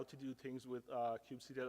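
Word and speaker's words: kubectl: do things with uh Cube CTL or cube cuddle if you say it wrong uh so CU C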